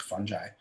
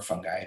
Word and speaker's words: Fungi: And there's an amazing film right now called Fantastic Fungi, or Fungi, depending on how you like to pronounce it.